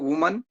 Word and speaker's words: women: कुछ लोगों को वुमन, WOMAN, इसको वुमन पढ़ते हैं, वुमन। दूसरा लिखा है WEMEN, ये तो खैर स्पेलिंग ही गलत है। थर्ड वाला लिखा है WOMEN, इसको पढ़ते हैं वीमेन, वीमेन।